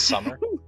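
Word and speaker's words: Squmerr: Summer and there's a Q, but it's silent. Her name is S Q U M E R R but it's pronounced Summer.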